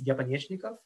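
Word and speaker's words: Epanechnikov: Change it to the, if I mispronounce it, I'm sorry, it's Yepanyechnikov, would be the way I would say it in Russian.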